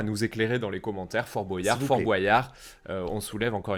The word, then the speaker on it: Fort Boyard: reprise de Fort-Boyard en Fort boyas Fort Boyard qui est quand même prononcé Fort Boyard comme des boyaux on est d'accord c'est